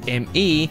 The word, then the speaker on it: Me: When Windows ME was released, Microsoft wanted us to pronounce ME as in me for some reason.